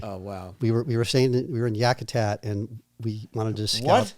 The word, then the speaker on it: Yakutat: Yakutat.